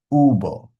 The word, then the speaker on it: hubo: abia abia and then ubo silent h in Spanish at the beginning of a word okay so this is